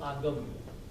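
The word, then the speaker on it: Aagam: In Jainism, we have a book called Agam, A-A-G-A-M.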